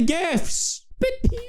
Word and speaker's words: GIF: oh snap y'all just got served on the gift topic what else argument do you have for